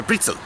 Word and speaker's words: Brezel: And a Brezel. And I know how to pronounce Brezel, not Anita Pretzel.